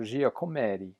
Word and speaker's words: Giacometti: sculptor his name is Alberto Giacometti you have to say it like that even though he's not Italian still sounds Italian so this is an